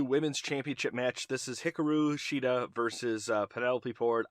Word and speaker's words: Hikaru: look up names wrong hikaru it's not hickory not pronounced i just say i call her exactly because it is hikaru i know it is